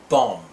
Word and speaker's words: bomb: When the letters MB are together in a word, the B is silent as in thumb and bomb.